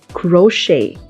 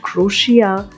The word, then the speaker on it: crochet: Crochet. It is commonly mispronounced word as well. People call it crochet, which is not the correct one. The correct pronunciation is crochet.